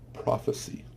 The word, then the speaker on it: prophecy: This word is prophecy. Prophecy. When you pronounce it with the E sound, it is a pronoun.